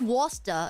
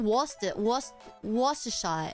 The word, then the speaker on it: Worcestershire: No, it's just Worcester. It's just Worcestershire. Worcestershire sauce. You don't pronounce the says. Worcestershire. Is that how you pronounce it? Beans are disgusting. That's one thing. That's one thing I will not. Worcester. Oh, it's even shorter than I thought.